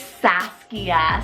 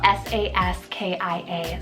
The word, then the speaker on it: Saskia: Then second one here is Saskia, so S-A-S-K-I-A, Saskia.